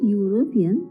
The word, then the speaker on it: European: In the word European, the first letter E is silent and the second letter U is pronounced as U, not A.